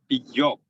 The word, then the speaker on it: Job: Job. Job. Yeah, it's Yeah. like Job in the Bible.